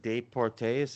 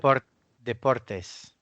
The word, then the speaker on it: Deportes: ESPN, how do you pronounce it? Deportes or some shit? Deportes.